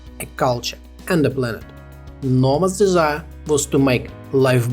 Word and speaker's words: Noma: played the important role Noma Folgers two syllables easy to remember and learn you will